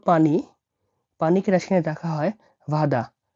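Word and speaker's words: вода: পানিকে রাশিয়ানে রাখা হয় ভাদা। ভাদা মানে হলো পানি। ভাদা। ভাদা মানে পানি। এই যে দেখতে পাচ্ছেন বি। বি উচ্চারণ হয়ে থাকে ভি বা ভয়ের মতো।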